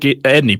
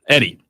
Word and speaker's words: Edey: To the Zach Edney point. Edey. Zach Edey. Yep. As I say it correctly now, versus DJ Burns.